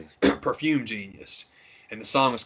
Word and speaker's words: Perfume Genius: there's a song that I don't want to say it wrong. I've said it wrong all weekend. It's a performer who performs under the name Perfume Genius. I've been saying Champagne Genius for 2 days.